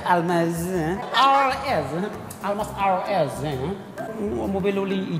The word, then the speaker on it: Almaz: Cara-cara bacanya Almas.